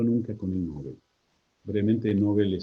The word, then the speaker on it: Nobel: Brevemente, Nobel se debiera pronunciar Nobel, está admitido, nosotros decimos Nobel.